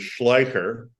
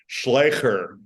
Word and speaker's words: Schlyecher: But apparently, it's a German last name that moved to the Netherlands about 2 generations before I came along, and the German pronunciation and spelling is Schleicher. Schleicher. Oh. And then the Dutch have this crazy guttural language, so it's Schlyecher.